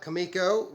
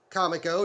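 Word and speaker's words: Comico: back in 1987 uh kamiko turned out or comic o depending on your pronunciation turned out a space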